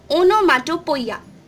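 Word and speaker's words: onomatopoeia: इट is pronounced as ओनोमाटोपोइया।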